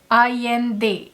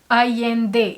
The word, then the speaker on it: Allende: her name is pronounced, and that is Isabel Allende. The LL is pronounced ya. Isabel Allende. Isabel Allende is a Chilean writer, and she is the world's most widely known Spanish language writer.